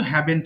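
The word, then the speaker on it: haven't: আমরা করি এখানে আমরা ভুল করে হ্যাভ বলি উচ্চারণ অনেকে ভুল করে হ্যাঁ এটা কিন্তু হ্যাভেন্ট হবে আপনার ঠিক আছে আপু এটা হবে হ্যাভেন্ট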